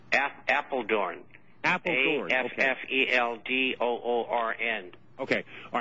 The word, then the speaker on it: Apeldoorn: And the town is called Appleton? Is that what you said? Apeldoorn. Apeldoorn. Afffeldoorn. Okay. All right. And pronounced in Dutch or German, it's Apeldoorn.